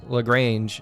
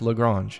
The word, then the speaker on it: Lagrange: any offense to it i think i pronounced lagrange i said lagrange in one of my videos and somebody was like it's pronounced lagrange and i'm like well i can't speak french i don't know but